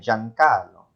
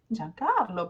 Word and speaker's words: Giancarlo: So if I write these sounds, I'm going to fuse the two vowels and pronounce them as ja, jo, ju. So I think there's a common Italian name, Giancarlo. Giancarlo, perfetto, Giancarlo.